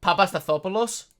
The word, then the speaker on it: Papastathopoulos: Can you pronounce his last name? Papastathopoulos.